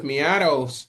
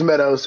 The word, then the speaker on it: Meadows: We have Joseph Miatos in the building. I hope I didn't pronounce that wrong. Probably Meadows. It's all right. It's it's Meadows.